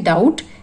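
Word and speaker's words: doubt: डाउट, B silent है।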